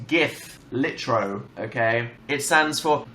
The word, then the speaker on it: GIF: It's pronounced GIF. Litro, okay? It stands for Graphics Interchange Format, okay? G-I-F. It's not graphics. Giraffics. I love the graphics on my video game console. It's pronounced GIF.